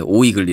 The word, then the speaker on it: OYGli: 하지만 발음 은 오이글리 입니다 .